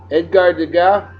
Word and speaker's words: Degas: Edgar Degas, Degas. There's the S is silent in French language, folks.